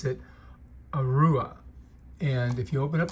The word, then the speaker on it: Arua: lavalier microphones by this company I believe you pronounce it Rua and if you open up the box you're